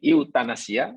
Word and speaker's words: euthanasia: E-U-T-H-A-N-A-S-I-A. E-U-T-H-N-A-A-S-I-A. Tahu bacanya macam mana? Kami dulu diajar membacanya euthanasia.